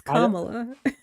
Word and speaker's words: Kamala: it how I'm let pronounce it how she pronounces her her own name it's Kamala I don't care I don't care how she